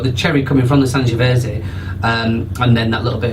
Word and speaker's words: Sangiovese: I'm not sure how you pronounce the grape. It's Sangiovese grape. Sangiovese, and it does have